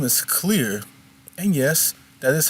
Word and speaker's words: Clisare: Her name is Clear, and yes, that is how her name is pronounced in case you're wondering that it doesn't appear that way given how it's spelled.